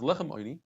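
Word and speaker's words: עֹנִי: The Torah says lechem oini. It's pronounced in a very interesting way.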